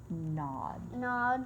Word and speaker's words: gnawed: They Remember, the G is silent. gnawed Mhm.